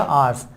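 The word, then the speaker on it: our: है, और आर या आर्स, अच्छा प्रोनाउंसिएशन इसका आर पढ़ा जाता है, ये भी ध्यान रखें, आवर नहीं पढ़ते, ये होता है आर।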